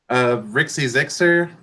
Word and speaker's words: RXYZYXR: It's spelled RXYZYXR, and it's pronounced like Rixie Zixer or Rixie Zixer, something like that. I've also Okay. heard Roxy Zoxer.